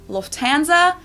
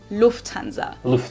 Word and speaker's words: Lufthansa: flown with them before in English people usually say Lufthansa but in German we say Lufthansa so the emphasis on the first syllable Lufthansa versus Lufthansa that's kind of crazy